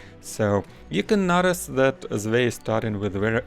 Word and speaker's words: Zvei: Or you can pronounce his nickname as Zwei if you feel it, but he has the typo in how the German number should be written, so I used to call him Zwei, so I'll stick to this in this video.